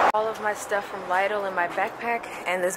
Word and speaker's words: Lidl: All right, let me show y'all what I got from the Lidl. I hope I'm pronouncing it right. Is it Lidl? Lidl? My other friend was saying Lidl. I'm pretty sure it's Lidl. Let me show you what